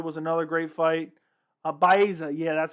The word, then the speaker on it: Baeza: My favorite fight of the year was Santiago Baiza. Round of the year for me was Woodley Luque round 1. That was great. Yuri Reyes round 2 was another great fight. Baeza, yeah, that's how you pronounce it.